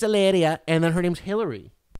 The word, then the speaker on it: Hilaria: and i'm not just she doesn't even say hilaria she says ilaria eleria eleria it's spelled hilaria but she says it's alleria and then her name's